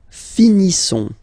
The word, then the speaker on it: finissons: Nous finissons. Okay, ISSONS. Issons. Nous finissons. Finissons. Okay, final S not pronounced.